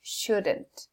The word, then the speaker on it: shouldn't: En este caso, la contracción es shouldn't. Ahora, algo importante. Hay que revisar pronunciación. La L no suena. Y la D suena muy poquito.